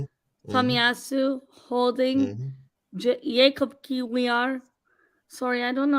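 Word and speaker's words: Kiwior: Jacob Kiwiar. Sorry, I don't know how to pronounce his name. Kivior. Kivior. Kivior. Yeah, Kivior.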